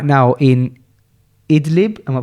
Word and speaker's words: Idlib: There's a widows and orphans camp in Syria, and a new one is being built right now in Idlib, am I pronouncing that right? Idlib, yeah.